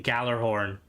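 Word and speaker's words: Gjallarhorn: it's like in Destiny Galler horn like even if like the pronunciation is supposed to be like the G is supposed to be a y nobody's ever going to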